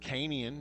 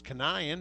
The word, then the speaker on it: Kanian: I said Canian. Now I find out it's Kanian. That's okay. I can Sorry, I work was with it. calling him Canyon, so it's totally Canyon, acceptable.